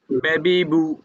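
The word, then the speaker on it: ب: মাখরাজ কোথায় বুঝছেন জি বা এর মাখরাজ কোথায় দুই ঠোঁট দুই ঠোঁটের ভিজে জায়গায় উচ্চারণ হবে ঠোঁটকে আমরা দুই ভাগ করছিলাম একটা হচ্ছে শুকনা অংশ আরেকটা কি ভাই বীজ অংশ বা হচ্ছে দুই ঠোঁটের বিজে জায়গা হইতে উচ্চারণ হবে এখানে দাঁতের কোন কাজ নাই শুধু ঠোঁটের কাজ তাহলে বলেন ঠোঁটের কাজ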